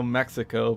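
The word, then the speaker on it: México: english we call mexico mexico but in spanish it's called mexico and so it's like the x makes a j sound versus the x sound that uh everyone in english reads it and apparently no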